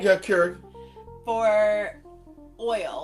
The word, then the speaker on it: Keurig: Yeah, Keurig.